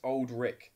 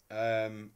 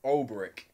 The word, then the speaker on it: Olberick: Brian Trester says Old Rick. No, not Old Rick. and not Baldrick. Olberick. Olberick.